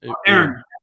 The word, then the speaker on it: Erne: Erne, E-R-N-E, Erne.